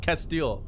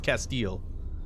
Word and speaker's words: Castile: Castile. Yeah, I think it's Castile. Castile, like it's like steel but with cat at the top, at the beginning. Anyway, incendiary round. INCH. Castile.